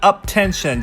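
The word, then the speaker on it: UP10TION: I mean, when you see logos of it, it does look like Up Lotion, am I right? But yeah, Up Tension, just in case you didn't know.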